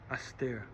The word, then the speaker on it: Astè: Now, when you use that in a sentence in regular conversation, that à cette heure becomes Astè.